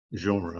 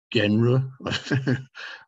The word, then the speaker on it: genre: really an english word it's a lone word it's completely a french word and we kind of almost have to pronounce it in a french way genre i don't know how it would be pronounced in them in a more british way genre but anyway we don't